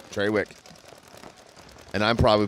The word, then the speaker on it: Trawick: get it I promise well it's t-r-a so Trawick I think it's treywick okay I think that's just the way it's pronounced up there cool I don't think